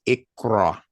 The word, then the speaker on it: iqra: And again, it is pronounced IQRA.